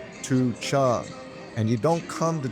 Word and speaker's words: Tucheng: I've been pronouncing Tuch Chan wrong way. It's actually T Chung.